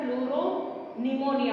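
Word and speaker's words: pleuropneumonia: अब पी है तो पी जो होता है इसमें साइलेंट होता है, अगर हम जब नाम लिखते हैं तो बोलने में तो एन आता है पर एक्चुअली स्टार्ट स्पेलिंग कहाँ से होती है, पी से।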